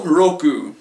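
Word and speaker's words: ろく: Shi go roku. Shi go roku. Roku kind of sounds like loco, which is Spanish in case you don't know, for crazy. Shi go roku.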